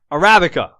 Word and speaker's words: Arabica: Well, I know I am, because whatever, but yep, Arabica is how you pronounce that goddamn fucking mediocre coffee bean that everybody drinks.